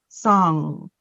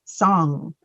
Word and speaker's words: song: that G is silent.